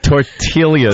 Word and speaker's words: tortillas: there was another one tortillas tortillas you pronounce the silent L yeah oh we were